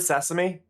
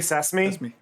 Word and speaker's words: sesame: It's kind of like the word sesame. A lot of people say sesame. Sesame. Yeah. It's like, it's still 3 syllables.